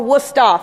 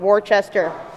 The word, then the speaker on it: Worcester: dojo and my college which is spelled or pronounced Worcester or wustoff for the locals not Worchester this presentation is Creative